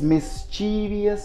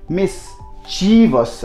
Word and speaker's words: mischievous: like very very naughty some of us pronounce this mischievious so that wouldn't be it would be miss cheevus read up for you like mess and then Chi and then fuss so this is how you got to pronounce that you to pronounce that miss cheevus okay move it on